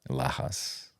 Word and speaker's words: Lajas: But I it's knew it had a J in it. There, yeah, because there's an H sound in it. it's Doing like the Lajas. it's like Lajas. you know where Lajas is?